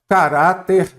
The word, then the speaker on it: caráter: Caráter, vamos ver aqui, caráter é paroxítona ou proparoxítona? Caráter é paroxítona, a sílaba tônica é a penúltima.